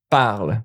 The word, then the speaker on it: parlent: Even if it's like Jacques et Jacqueline parle. Now you see, oh, it's two person, it's plural, parle, don't pronounce the NT.